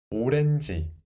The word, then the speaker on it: 오렌지: First syllable, 오, 오. Second syllable, without the final consonant, 르, 에, 레. And let's add n sound after that. 레, 느, 렌, 렌. And then the last syllable, 지, 지, 이, 지. 오, 오렌지, 오렌지, 오렌지 먹어요.